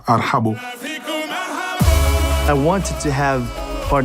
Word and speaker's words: Arhbo: En France, ils me demandent qu'est-ce que ça veut dire, ils n'arrivent pas à prononcer, ils disent arbo, arbo. Arbo parce que c'est difficile pour un Français de dire arhabo.